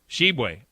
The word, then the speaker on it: Tshiebwe: The Player of the Year from Kentucky, Oscar Tshiebwe. Is that how you say it, Grizz? Tshiebwe. Yes. Oscar Tshiebwe is the Player of the Year out of Kentucky.